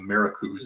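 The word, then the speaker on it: MARACOOS: So courtesy of the folks at the Mid-Atlantic Regional Association of IUS, pronounce that acronym MARICUS, as you can see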